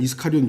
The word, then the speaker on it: 이스카리온: 그래서 뭐 가룟 유다라고 했을 때 뭐 일반적으로 사람들이 그렇게 사용하는 것을 우리가 그것을 지적할 필요는 없습니다. 그러나 우리가 이제 한글 킹제임스 성경으로 사용하는 우리는 그냥 이스카리온 유다 이렇게 발음하는 것이 뭐 우리에게는 맞다라고 할 수 있습니다.